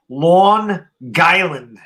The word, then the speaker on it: Long Island: on long island yeah you're saying it wrong though it's lawn guyland long island on island